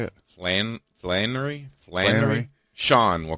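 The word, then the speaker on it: Flanery: his name the guy that played Sean Patrick flamery is that how you say it land Flannery Flannery Sean we'll call him Sean yeah anyway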